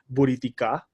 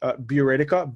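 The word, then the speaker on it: Buriticá: bit hard to pronounce all say it in in Spanish which is Buddha tikka or in English be Radhika bu RIT I see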